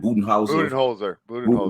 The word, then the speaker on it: Budenholzer: So, like look at Budenholzer. How you pronounce his name? Budenholzer. Mike Budenholzer.